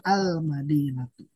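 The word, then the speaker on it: المدينة: Oleh karena itu ketika madinatun diberikan alif lam maka dibacanya menjadi almadinatu.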